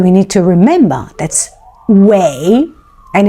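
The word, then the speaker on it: shuǐ: need to remember that's shwei, and it is pronounced as shwei, shwei, shwei, which means actually with the third tone water.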